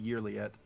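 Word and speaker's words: Yrliet: Her name is actually pronounced Yearliet. I guess we pretty much had it right.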